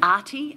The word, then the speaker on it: ARTIE: MS KAUPPILA: ARTIE, as in Arthur Beetson.